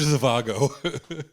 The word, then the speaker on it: Zhivago: the the d is the z is pronounced h dr zavago doctor i love dr